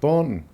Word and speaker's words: Barrington: This is Barrington. Us locals used to pronounce it Barnton, where I lived from the age of 6 weeks until I got married at the age of 21.